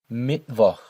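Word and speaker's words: Mittwoch: Monday dinag dinag Tuesday mitv mitv Wednesday. Notice again, just as always, the ch sound here is a more throaty sound in German. And as always, the W is pronounced like a V.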